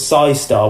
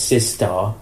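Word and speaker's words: Cy-Star: had with her had i thought it was psystar when i'm reading it but it's sis star right he pronounced our sister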